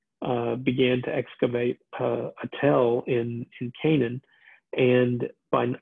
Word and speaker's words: tell: hills that are called tells now in um in arabic it's uh t-e-l-l tell uh the the jordanians actually pronounce it tell but spell it t-a-l-l uh and then in